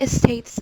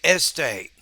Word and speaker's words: state: the announcement as states so you're putting a syllable that's not in the word there because in spanish you're not used to beginning words with s's right so instead of saying state you're saying estate the problem is a